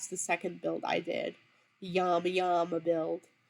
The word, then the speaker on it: llama: My grandmother always said that the Spanish produce, or the Navajo pronounce llama as llama, and that's the correct way to pronounce it. So that's why I always say yama yama, or sometimes say it.